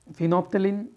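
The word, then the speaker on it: phenolphthalein: कोलथोफ, जिसमें हम मिलाते हैं फिनोप्थेलिन, एल है वो साइलेंट रहता है, इसमें मेथिल रेड, एल्फा नेफ्थेलिन और थाइमालथेलिन।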